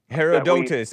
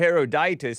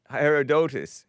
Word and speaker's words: Herodotus: Now, the argument about a Greek historian, you know his name, Herodotus. I was pronouncing it Heroditus because I thought it had an I, but it's O. Herodotus.